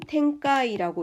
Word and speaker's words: 展開: 열전이라는 것은 넷센 그리고 전개라는 것은 텐카이라고 읽죠.